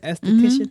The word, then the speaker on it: esthetician: How you pronounce it? Esthetician.